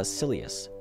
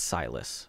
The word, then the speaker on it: Silas: that their great grandpa selus used to own is that how you say it oh nope it's silus thank God for Google